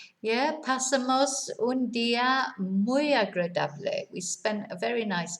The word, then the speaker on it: agradable: Sometimes people struggle with the blurs. Agradable, not agradable. You know, sometimes people want to say it like agreeable, you know, so they want to say agradable.